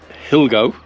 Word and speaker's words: Gilbo: Pico Gilbo.